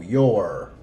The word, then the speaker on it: your: This one, the U is silent, so it's going to sound like your with a long O, your.